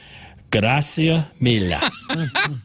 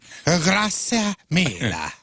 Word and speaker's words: Grazie mille: Gracia mille. Nailed it. Grazie mille. The thing with Italian is it's pronounced really how it's spelled.